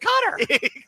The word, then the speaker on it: Qatar: Some people pronounce IT CUTTER.